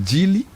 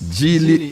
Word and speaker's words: Geely: All right, elevate your driving experience with the all new, is this pronounced Geely? Yes. Geely lineup.